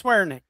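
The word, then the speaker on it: Swiernik: Swearnick. Somebody told me that's how you pronounce that. It's Swearnick, right? Yeah, it's pretty good. Yeah. I'm good at swearing, and my name is Nick, so it's Swearnick.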